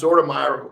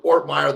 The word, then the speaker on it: Ortmayer: sign off here is uh everybody knows zorda meyer ortmire the world i say your name wrong on purpose by the way i got